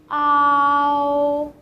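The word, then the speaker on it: ao: The first one, you can say a and o, a, o, ow, ow. You can say 2 sounds with a rather fast speed, and then you might get that sound. Ow.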